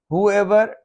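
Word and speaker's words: whoever: हुएवर, W silent है।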